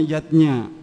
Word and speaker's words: yajna: Zatnya tulisannya yajna, Ayah Bunda. Tapi membacanya yatnya.